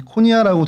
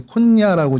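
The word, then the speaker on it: Konya: 키프로스 섬이 있고 그 위쪽에 터키 남부 지역에 여기 코니아라고 돼 있고 근데 콘야라고 이제 보통 이제 발음을 하고요.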